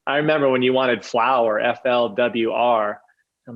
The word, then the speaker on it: flwr: everything pronounceable um i remember when you wanted flower f-l-w-r i'm like i look at it i look and i go oh flower now i get it um well you you